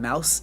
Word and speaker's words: Maus: And also, where can one read Mouse? So it's spelled as Maus.